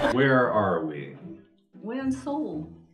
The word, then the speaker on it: Seoul: We're in Seoul.